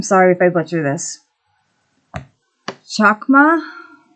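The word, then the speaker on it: חכמה: The Hebrew word for wisdom is, I'm sorry if I butcher this, chakma, chakma. It's Chochmah, if anyone wants to look up how to pronounce it.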